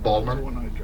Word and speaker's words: Baltimore: depends on on yeah Baltimore Balmer you know people say Balmer you know so it just it just depends where you're from but yeah Melbourne is